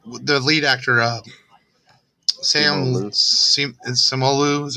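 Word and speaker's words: Simu Liu: then and uh the lead actor uh sam samuel lou is how you say it he's he's he's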